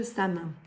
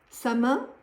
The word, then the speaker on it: Samhain: Samin signifie fin de l'été. Ce mot gaélique se prononce Samhain, Samhain, voilà, il y a beaucoup de prononciations possibles. Moi, je reste avec Samin.